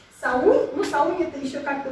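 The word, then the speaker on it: Samhain: Ну, Саунь это еще как-то более-менее близко к теме, но не совсем, потому что по-шотландски гельски Самайн читается как Саунь. То есть там Саунь. Саунь. Саунь. На первый слог, что Саунь. ударение.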